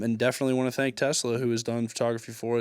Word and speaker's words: Tesxla: Tesla. TSXLA. The X is silent.